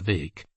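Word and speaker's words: Bheag: farar or farquar vake bheeg pronounced vake as he was euphoniously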